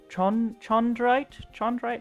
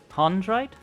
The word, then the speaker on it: chondrite: Chondrite? Is that? That's what I thought, but I wasn't sure. Pronounced like a hard K.